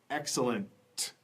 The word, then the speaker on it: excellent: at first excellent excellent what's that final T can you say it excellent all right excellent good and the second